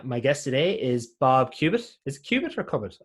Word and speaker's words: Cubitt: My guest today is Bob Cubitt. Is it Cubitt or Cubitt? I never checked, actually. It's Cubitt.